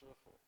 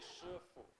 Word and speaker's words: Shifu: Yeah, by the way, Sifu is supposed to be pronounced Shifu.